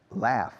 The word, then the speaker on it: laugh: Laugh. No, amar, no. Love, no. Laugh. Her pronunciation is not good. Laugh. Laugh. L-A, the first letter in the alphabet, A, U-G-H. Laugh. Yes, se pronuncia laugh.